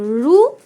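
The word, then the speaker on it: ఋ: এটা হচ্ছে তারপরে দেখো এখানে আমরা ঋটাকে রু উচ্চারণ করব। রু রু তাহলে রু মানে হচ্ছে রুশি আর রু।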